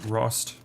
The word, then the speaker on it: Rost: gonna meet up with ross am i even pronouncing his name right rost it's like frost with an ah minus the f all right here we